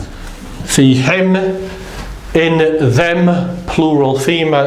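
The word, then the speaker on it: فيهم: If it's going to be, again, this takes the same rule of pronunciation as who. So in them, plural male, it's going to be fi, fi him, fi him.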